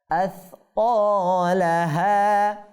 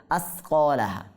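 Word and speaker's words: أثقالها: এখানে এই সা বর্ণটি উচ্চারণ করার ক্ষেত্রে আমাদেরকে একটু সতর্ক থাকতে হবে। কেন? সা অনেকে সাকে সিন এর মতো বানিয়ে ফেলে, এই জন্য এরকম করা যাবে না। আসকালাহা, যদি এটাকে আমি বলি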